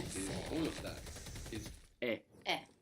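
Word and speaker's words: è: all of that is e. Now this e is pronounced a little bit smiley. So make a smile and with an open mouth make e. And there you will get the sound.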